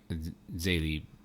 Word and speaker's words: Zélie: So when they went to Our Lady of Lourdes, and Zélie, did I say it right?